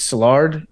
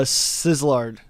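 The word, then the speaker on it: Szilard: to pronounce this name I think it's salard s z i l a r d uh sizzlard Sizzler yeah that's Billy probably pronounced it exactly correct and and he heard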